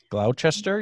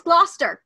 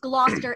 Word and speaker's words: Gloucester: Gloucester in Massachusetts and they have low Chester you mean no its Gloucester it's Lobster in Massachusetts and what's interesting is it's also pronounced Gloucester in Britain it is he would